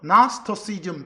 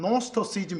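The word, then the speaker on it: Gnosticism: 근데 거기서 영어로 읽을 때는 맨 앞에 G자가 묵음돼요. 그래서 나스토시즘 또는 노스토시즘 이렇게 해요.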